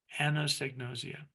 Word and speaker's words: anosognosia: patients or clients is anosognosia, it is really helpful to be able to pronounce it. So this is a trick that I use. A woman named Anne knows egg, and she's nosy, nausea, anosognosia.